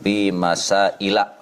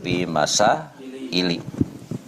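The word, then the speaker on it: في مسائلَ: Jadi kalau isim ghairu munsharif wazannya itu mafaila, maka dia dikasrohkannya itu dengan fathah, jadi dibacanya babun fi masaila. Jadi nggak boleh dibaca fi masaili.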